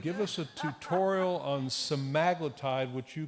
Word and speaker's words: semaglutide: Would you do no other intervention, get rid of the TAF, get rid of the integrase, start metformin, start semaglutide, which could also be pronounced semaglutide, and ramp it up to 1 milligram sub-Q a week, or some other option?